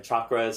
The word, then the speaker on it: chakra: are experts on this, you should be pronouncing it correctly. It's chakra.